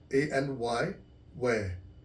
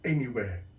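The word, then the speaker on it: Anywear: r dot Co dot UK anywhere so it's pronounced a-n-y where w-e-a-r anywhere anywhere so just go to the website and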